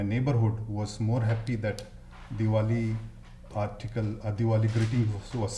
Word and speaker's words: Diwali: Jim Brady for And that holiday, pronounce it again. what's- Diwali.